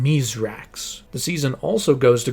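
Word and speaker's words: Misraaks: While his name might be Myithrax when we're introduced to him, we learn that that was a mispronunciation of his real name, Miserrax.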